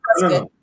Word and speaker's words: Prescott: And the reason why, or Prescott, however people say it, people up there prefer Prescott. People up there prefer Prescott, but a lot of people pronounce it Prescott. And they're all wrong.